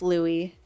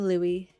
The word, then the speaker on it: Louis: Yes, it is pronounced Louis. I just like to spell it with zeros because why not? But yes, I am Louis.